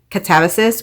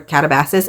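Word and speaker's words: Katabasis: Number 7 for me was Catabasis or Catabasis. I don't know how you say it. You can say it either way, by R.F.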